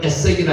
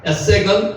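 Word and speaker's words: 에섹: 에색은, 아사크는 다툼이라는 뜻입니다. 다툼. 제 우물의 이름을 다툼이라는 우물 이름을 썼다면 에색, 실제로 발음은 에세크입니다.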